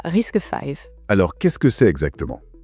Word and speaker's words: RISC-V: Prononcé risque 5, c'est ça? C'est ça, risque 5.